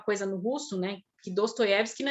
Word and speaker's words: Dostoiévski: Pensar do Dostoiévski, tem dois Os na palavra ali e o IE. IE é a sílaba tônica. Então, quando a sílaba tônica está presente e não é o, tudo vira A. Então, é Dostoiévski.